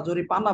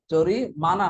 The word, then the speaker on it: জরিমানা: জরিমানা, কিন্তু জরিপানা না। অনেকে আমরা জরিপানা বলি, আর জরিমানা বললে অনেক সময় জরিপানা শোনা যায়, শব্দটাই কেমন যেন। জরিমানা হবে উচ্চারণটা।